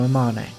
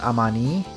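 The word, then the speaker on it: Amane: little pep talk from Amman apparently her name is pronounced amanii but you know I've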